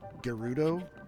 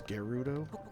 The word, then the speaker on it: Gerudo: across the I guess the correct pronunciation is Gerudo desert I always thought it was Giroud oh but apparently it's Gerudo okay and I could